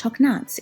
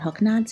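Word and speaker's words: հոգնած: Tired, for example, is pronounced hoknats in Eastern Armenian and hoknats in Western Armenian.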